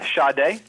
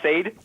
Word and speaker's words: Sade: while making love yeah i've also listened to uh shade shade but when i first bought the cd i didn't know that was how you pronounce it like you want to listen to some sade sounds too much like satan is really good he